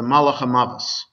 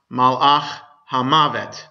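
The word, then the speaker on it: מלאך המוות: So in Yiddish, the angel of death is the Malach HaMavos. Right, so those of you who know Yiddish know that term, Malach HaMavos, which in modern Hebrew is pronounced Malach HaMavet. Okay, it's the exact same words, it's just different pronunciation, different accent to it.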